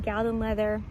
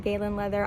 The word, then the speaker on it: Galen Leather: leather i think it's some people pronounce it gallon leather i pronounce it galen leather i'm sure eunice if